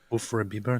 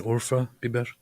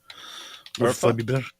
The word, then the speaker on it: Urfa biber: There's no such thing as Ufra Biber. You mean Urfa Biber? Urfa? Biber? What's that mean? That is a don't ask me things, man. It's a spice. Oh. A spicy pepper spice. Nice. Biber is pepper. It's Urfa Biber. That's how you say it.